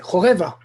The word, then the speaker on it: Choreva: Et c'est un A qui est non accentué. On dit choreva et non pas choreva. Donc j'ai bien prononcé, Choreva.